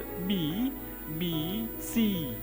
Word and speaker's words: BBC: तो ये है द और बी, बी सी, तो बी बी सी ऐसे इसका प्रोनाउंसिएशन होगा। सी पर हमें स्ट्रेस देना है, सी पर जोर देना, और स्ट्रेस के लिए